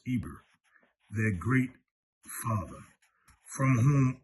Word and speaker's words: Heber: The Hebrews are called after Heber, pronounced Eber, their great father, from whom all the Hebrews descended.